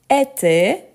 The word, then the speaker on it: était: c'est notre maison donc elle elle était la prononciation c'est la même pourtant on écrit avec T à la fin donc notre maison était